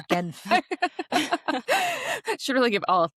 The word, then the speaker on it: Genf: It's Genf. Should really give all 3 pronunciations right there.